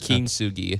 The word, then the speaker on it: kintsugi: Did I pronounce it right, Max? Kintsugi.